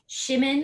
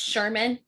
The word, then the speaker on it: Shimin: That like how did I Shimin, I think is how Shimin, I think was how I was pronouncing it. Yeah, me too. I was pronouncing like Jimin from BTS. Yes. It's not. It's Shermeen.